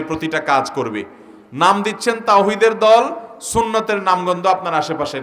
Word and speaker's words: তাওহীদ: দল কি নাম দেয় তাওহীদের দল হিজবুত তাওহীদ মানে তাওহীদের দল কিন্তু আপনি যদি জিজ্ঞাসা করেন তাওহীদ শব্দটা শুদ্ধ উচ্চারণে একটু বলেন আরবিতে তাওহীদ এ হা যথাস্থান থেকে উচ্চারণ সঠিকভাবে তাদের শতকরা কয়জন